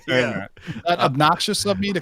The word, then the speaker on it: Obnoxio: We missed Otto today, but I want to thank you for taking his place by mispronouncing Abonaxo this whole show. It's Obnoxio. Obnoxio. Not like Abonaxio.